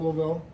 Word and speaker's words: Louisville: So we've been educated on the proper way to say Louisville. It's not Louisville. Lou.